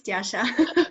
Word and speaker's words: Tiasha: Did I say your name? Yeah, it's Tiasha. that's correct.